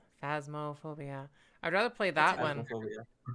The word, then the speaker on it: Phasmophobia: um phanto fan would you call it fan fans mafia i butchered that name phasmophobia i'd rather play that one somebody wanted me